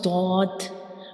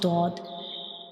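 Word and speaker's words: ضاد: And how we pronounce dod, what's the origin of dod? When we pronounce dod, the front part of your tongue will touch the gums of upper front teeth.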